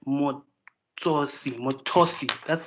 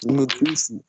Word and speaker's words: Mutusi: I only hear Motosi. That's how you pronounce it, right? Motosi. That's how you pronounce your name, right? It's Mutusi. Motusi.